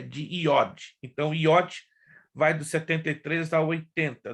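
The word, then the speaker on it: יוד: a pronúncia correta é IOT ainda que se inscreva já mas o J quando transliterado tem som de i por isso que as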